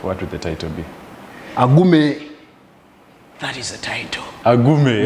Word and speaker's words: Agume: So my name AGUME. Actually, in pronunciation it is AGUME.